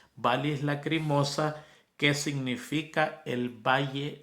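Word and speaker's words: vallis: a l l i s de Valle se pronuncia valis valis lacrimosa que significa el Valle del llanto a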